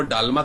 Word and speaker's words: डालमा: डालमा होता है ज्योति वहां दाल को मतलब दा को डा प्रोनाउंस किया जाता है ओके तो डालमा तो दाल से बना दालमा दाल में क्या करते हैं कई प्रकार की सब्जियों का मिश्रण कर देते हैं ओके और उससे वो बनती है तो उसको वो वो डालमा करके प्रोनाउंस करते हैं और वो उनको